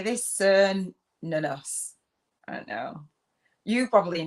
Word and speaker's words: Cernunnos: So it says it's pronounced Cernunnos, right?